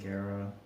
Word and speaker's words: Guerra: can you just say Guerra it's supposed to you're supposed to roll the R's but I don't know